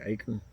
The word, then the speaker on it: acorn: Oh, he did have he's got like acorn or something in his mouth. Acorn. Acorn. That's what the locals say. That's how they say it. Acre.